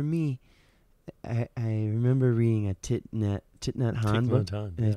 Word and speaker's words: Thich Nhat Hanh: Meaning, like, so for me, I remember reading a Thich Nhat Hanh book. Did I pronounce that correctly? Yeah, Thich Nhat Hanh.